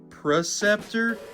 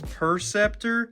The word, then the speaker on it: Perceptor: boy it's preceptor also I have a really bad thing about saying proceptor even though it's perceptor I think I grew up saying proceptor and that's why I say it wrong a lot so if